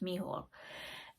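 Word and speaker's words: Mícheál: So in the to see it written on the page, the child's name looks like Michael, but in the audiobook it was pronounced Mihal.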